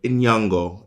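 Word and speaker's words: Nyong'o: pronouncing your name properly how do you pronounce your name and then lupita will go in yungo and then they'll go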